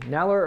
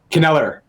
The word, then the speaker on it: Kneller: Neller or Kneller? Kneller. The K is pronounced.